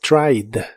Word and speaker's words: tried: En el pasado es tried. En este caso no pronuncias la e, solo la d del final. Trid. Tried.